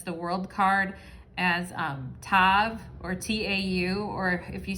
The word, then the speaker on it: tav: letter that represents the world card as um tav or t-a-u or if you spell it out t-a-v how it how it's written